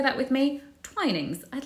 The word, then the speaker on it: Twinings: I've heard it said as Twinings before. It's actually Twinings. So try and say that with me, Twinings.